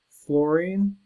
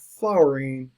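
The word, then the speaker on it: fluorine: wrong quite a bit it's f l u r i n e Florine and not it's not f l o Ur which is flower it's not fline it's Florine okay sodium is na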